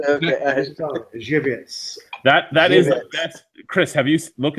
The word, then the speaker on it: Żywiec: It sounds sexy because Zwiak. So you're talking Zavit. There we go. Yeah, Zavik. There we go. That's how. That is amazing. hold on. Let's pronounce this properly. It's called Żywiec.